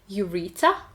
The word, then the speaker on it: ureter: В слове «мочеточник» «ю» также звучит как в алфавите «ю», но ударение мы ставим на второй слог ureter.